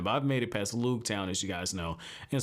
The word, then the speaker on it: Loguetown: Like, he was like, yeah, I was there at Loguetown, and the way Viz Media has it, it's Roogtown.